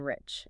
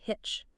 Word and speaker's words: rich: Consequently, Brazilian speakers often instinctively pronounce rich as hitch.